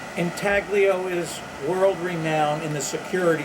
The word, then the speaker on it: intaglio: often pronounced in talio it's an italian word and the g remain silent i like to use the word entaglio to our associates in this country that way they know there's a g in the word intaglio is world-renowned in